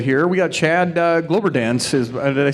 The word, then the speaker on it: Kloberdanz: We got Chad Kloberdanz. Did I say that right? You pronounce it for me. Kloberdanz.